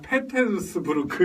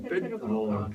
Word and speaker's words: 페테르부르크: 페테르스부르크 이렇게 안 하고 페테르부르크. 그게 이제 러시아 발음을 하면 페테르부르크라고 해가지고 페테르부르크. 페테르부르크라고 하고 거기가 원래는 이제 황제가 있을 때는 거기가 수도였어요.